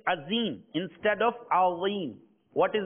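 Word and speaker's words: عظيم: And if a person pronounces Azim, so if someone says Azim instead of Azim, with a za instead of Allah in Subhana Rabbiyal Azim, his salah will become invalid.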